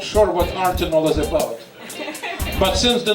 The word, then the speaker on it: Artenol: I'm not sure what Artenol is about. But since the name of the magazine contains the word art, it has to be about art. That it rhymes with Tylenol is purely coincidental.